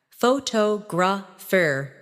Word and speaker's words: photograph: For example, photograph, photographer, and photographic. The stress moves, and that changes the sound.